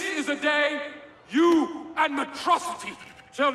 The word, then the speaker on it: Metrocity: This is a day you and Metrocity shall not soon forget. It's pronounced Metro City.